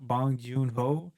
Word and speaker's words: Bong Joon-ho: How do you pronounce his name? Do you know how? Bong Joon-ho.